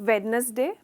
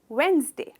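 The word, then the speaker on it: Wednesday: इसकी हमने जनरली कहते हैं हम वेडनेसडे, पर इसकी करेक्ट प्रोनाउंसिएशन है वेंसडे, वेंसडे। सिर्फ 2 भाग है इस वर्ड के प्रोनाउंसिएशन में, वेंसडे।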